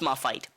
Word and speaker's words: Moffat: I don't know how you pronounce that name. Moffat. Moffat. It's Moffat. Moffat.